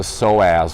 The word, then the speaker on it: psoas: gonna talk about the psoas muscle it's spelled ps0 AS that p is obviously cyan't silent so the psoas muscle